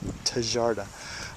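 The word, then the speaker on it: Tjaarda: designed by Tom charda which is spelled TJ a r TJ a a RDA tarda um who was working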